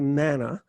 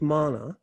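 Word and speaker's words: manna: represents the um the mana in the desert the um or it's sometimes mispronounced or anglicized to mana but it is mana um and the mana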